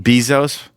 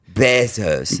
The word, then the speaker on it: Bezos: Bezos. Yeah. Why did I say it wrong? You just said it like he's an insect. Bezos.